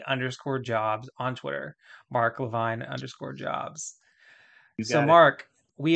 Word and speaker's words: LeVine: spell it they realize Levine is Levine Levine they're probably wondering is it l-a-v-i-g-n-e like Avril Lavigne or something like that